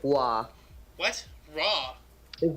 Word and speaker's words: Roy: all right no you said his name wrong it's not Roy it's Patrick law what raw his name